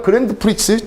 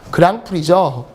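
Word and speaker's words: Grand Prix: 그랜드 프릭스 죽습니다. 그랑프리죠.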